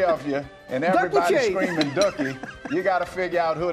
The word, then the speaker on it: Dooky: here we all say we're all saying dookie up here and we know we got it wrong give us the pronunciation the proper way ducky so this is dookie